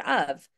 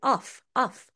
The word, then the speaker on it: of: students will pronounce it ofof so we will spend an entire session discussing the fact that the word off is actually pronounced with a V of and it's usually rushed so it's usually more